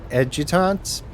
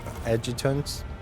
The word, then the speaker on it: adjutants: orders the it Ed edutants that I do not know that's new uh to the edutant at the far end of The Magnificent chamber or there's a silent letter in there adjuncts adjutants servants okay dozen pairs